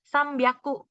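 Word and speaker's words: 三百: 600-800 agak berbeda aja 300 juga beda sambiaku jadi yakunya itu cara bacanya ngelebur gitu jadi ya aku jadi biaku nah ada juga yakunya jadi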